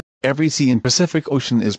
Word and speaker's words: Pacific Ocean: the way we pronounce pacific ocean take your time to say it slowly and you'll notice that each c is said differently the first with n